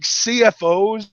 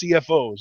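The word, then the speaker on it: CFO$: Like there are just like CFOs, and I actually learned that's how it's pronounced. It's not CFO money, it's CFOs.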